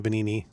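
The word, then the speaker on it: Venigni: Uh, pronouncing things is difficult because it's it's based on Italian. So, the G is silent in Venini.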